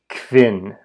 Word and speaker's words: kvin: But again, think of the English word quintuple.